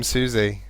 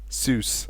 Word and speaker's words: Sus: meant to say it I keep calling him Suzie but I don't think he likes it it's pronounced as sus oh sus okay sus so it's not suie the guy is not Su it's Su what is going on